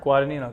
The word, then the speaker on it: Guadagnino: Guadanino.